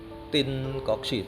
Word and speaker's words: Tien Kok Sie: Nah, Jadi kelenteng ini adalah bernama Kelenteng Tin Koksi. Tulisannya TIEN, bacanya Tin. Tim. Karena itu ejaan lama dari ejaan Belanda.